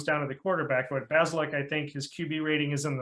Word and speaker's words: Bazelak: Their quarterback, Connor Bazelak, I believe is how you pronounce his last name. Yep. Bazelak.